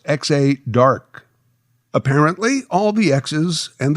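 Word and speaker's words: Exa Dark: I believe that name is pronounced X-A Dark.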